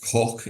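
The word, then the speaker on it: Coke: chief justice Edward cook pronounced cook of course as we've said not pooke um yeah but but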